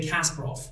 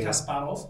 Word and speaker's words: Kasparov: known uh in English they say casprov so let's just for the sake of play so uh because we're from a similar part of the in a region say Kasparov but yeah casprov as Americans say casprov is also known as